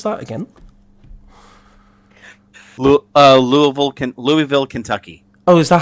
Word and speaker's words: Louisville: is that how you is that how you say it yeah yeah laville very lville say Louisville with a mouthful of marbles that's all I see